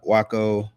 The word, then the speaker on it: Waco: to know more about Waco and did I say that Waco or Waco how should you Waco yeah she said it right awesome awesome awesome I